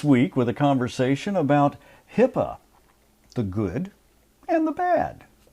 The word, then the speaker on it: HIPAA: HIPAA. Correct. Not HIPPA, which is how I usually misspell it.